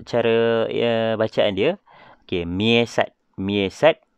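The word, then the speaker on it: MEASAT: Okey, macam mana nak cara bacaan dia? Okey, MIESAT. MIESAT 2.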